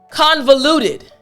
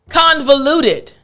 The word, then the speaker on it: convoluted: word is quite long convoluted but the real tricky portion of this word is actually in the middle portion velou velou that's the